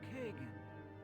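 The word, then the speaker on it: Kagain: here hello Mr Kagan why it's Kagan I don't know it's spelled Kain but whatever greetings I am Kagan what can I do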